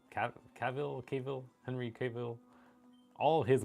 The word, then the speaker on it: Cavill: Cavill, Henry Cavill, all of his movies, and all of that Justice League stuff.